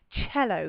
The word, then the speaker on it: cello: For example, in Italian, the word cello comes from the Italian word, and that's just the letter C.